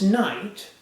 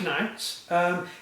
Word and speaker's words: knight: Deus vult range nice it's pronounced night but it begins with a K why the got the